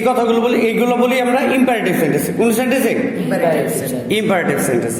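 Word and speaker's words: imperative: IMPA না Impey. ই এর উচ্চারণ হয় একার, মনে থাকবে। এইখানে PE, তার মানে পে, পয়কার পে। ইম্পারেটিভ। তুমি যদি এটা পে উচ্চারণ না করো, পা করো, তাহলে তোমার PA পা হয়ে যাবে।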